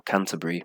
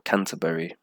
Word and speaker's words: Canterbury: So Cambridge, then Canterbury, and very often you hear this Bury sound like Bree, Bree sound. So Canterbury or Canterbury, you can say.